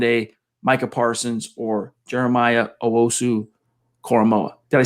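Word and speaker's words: Owusu-Koramoah: we don't land a micah parsons or jeremiah owosu coramoa did i say it right i think so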